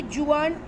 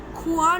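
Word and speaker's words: Juan: जी हाँ, जिन लोगों को लगता है कि जुआन प्रोनाउंसिएशन है तो वो गलत है, खुआन है उसका प्रोनाउंसिएशन।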